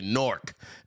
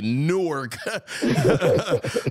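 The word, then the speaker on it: Newark: how to pronounce it y all say norc uh I'm saying it properly newk but um but at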